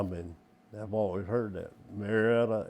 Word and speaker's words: Marietta: Marietta is Mayetter.